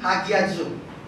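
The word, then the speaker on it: ἁγιάζω: Il vient de la racine du mot grec, qui ça veut dire hagizo, H-A-G-I-Z-O. Et là, prononcé Hagiazo.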